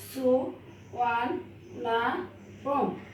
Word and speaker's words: Suvarnabhumi: The name সুবর্ণভূমি is pronounced as Suvarnabhumi.